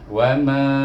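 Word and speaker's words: وما: Bermula dengan kalimah wama, iaitu kenapa dia bunyi wama? Waw baris di atas bunyi wa, satu harakat.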